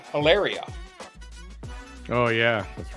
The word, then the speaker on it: Hilaria: But she pronounces it Hilaria.